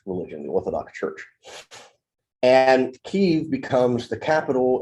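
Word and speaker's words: Kyiv: And in the 800s, early 900s, Kiev, which is the Ukrainian pronunciation, Kiev is the Russian pronunciation.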